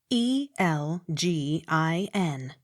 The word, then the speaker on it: Elgin: l a t diplor e l g i n elgin the g hard as in give e y r e